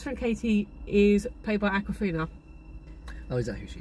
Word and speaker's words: Awkwafina: So his best friend Katie is played by Awkwafina. Oh, is that who she is? Yeah. Okay. And that is how it's pronounced as far as I'm aware.